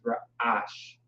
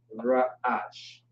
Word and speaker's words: ra'ash: R-A, ra. And the key word, of course, is ra. The word is ra'ash. Ra'ash.